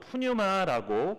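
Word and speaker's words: πνεῦμα: 불렀습니다 발음이 좀 괜찮죠 그래도 좀 제가 보기에도 발음이 좀 괜찮은 거 같습니다 그리고 신약 성경에서는 이제 헬라어로 푸뉴마라고 그렇게 불렀습니다 그래서 루아그나 푸뉴마나 이제 다 같은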